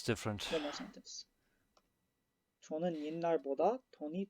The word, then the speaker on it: 옛날: It's a very common word that's used with 옛날, I know the irregular pronunciation here. 옛날.